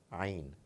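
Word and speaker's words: ع: It comes from deep inside the throat, a very special sound, Ain, Ain. We people belonging to the subcontinent quite often struggle to bring it out from the right place.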